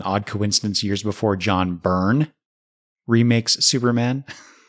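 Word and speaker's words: Byrn: uh the male alien was named Brin. Um but it was actually Burn. B Y R N. So that entire synopsis I I mispronounced his name.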